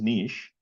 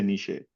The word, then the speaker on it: niche: which we all commonly Yeah, it's actually the pronunciation is nish. Uh we shouldn't say nishe.